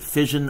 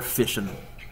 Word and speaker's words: fission: binary fission binary fission you can pronounce it fission or fishin both are accepted the second one we